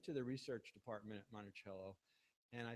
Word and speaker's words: Monticello: pronounced monello or monello well look if we only had tape recordings of Thomas Jefferson we would know the answer but we do know that Jefferson spoke Italian and monello means little Hill or hilock in Italian so we're pretty certain that that he did pronounce it monello now you I thought